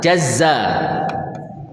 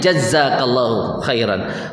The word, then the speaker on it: jazakallahu khairan: yang terlalu penting sih Tapi kalau Diel huruf z-nya jadinya bacanya gimana jazza ya jazza jazakallahuir ini ini dalam bahasa Arab artinya sangat fatal jazza itu artinya memotong-motong